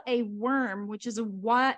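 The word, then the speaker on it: wyrm: the two front legs and he's called a worm which is a why it's it's spelled w-y-r-m but the interesting thing that got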